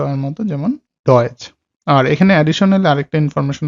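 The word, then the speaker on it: Deutsch: আর টিএসসিএইচ যেটার উচ্চারণ হলো সিএইচ, সিএইচ এর মতো, যেমন চ এর মতো, টিএসসে আ এটার উচ্চারণ হলো চ এর মতো, যেমন ডয়েচ।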